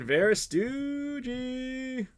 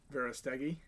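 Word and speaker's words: Verástegui: Kevin Verastuggi. I probably just completely... How do you say his last name? Verastegi.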